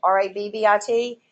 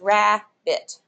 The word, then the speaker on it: rabbit: the two consonants and you don't pronounce the consonant in the unaccented syllable so it's never rabbit but it's rabit okay so that's how